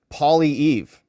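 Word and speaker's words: Poilievre: you dong goof uh Jack Max says it's pronounced Pierre PIV Pauly Eve I think well we'll never remember that but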